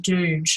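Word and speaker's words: Doidge: that changes Itself by Norman dude I think that's how you say his name that's the d-o-i-d-g-e and he's an MD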